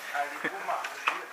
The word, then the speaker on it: Aliguma: My name is Aliguma. Can you pronounce Aliguma? Arigumba.